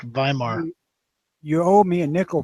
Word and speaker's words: Weimar: W's pronounced with a V in German. Instead of Weimar realize- Republic, Weimar.